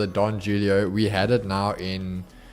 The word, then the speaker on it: Julio: on this yo all what the Jay is is silent yeah with the the Mexicans you you don't say you say like you don't say Jean you say Juan what are talking about it's it's Don Julio Julio Julio you almost say